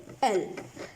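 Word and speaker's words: elle: अंदर वो होता है एल। अगर आप इसको इंग्लिश में अगर देखें तो ये लगेगा आपको ईली लिखा हुआ है, ईली। हालांकि ईली इसको फ्रेंच में ना प्रोनाउंस नहीं करते, एल प्रोनाउंस करते हैं।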